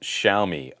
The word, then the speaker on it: Xiaomi: For Zitter, the X is pronounced SH like Xiaomi.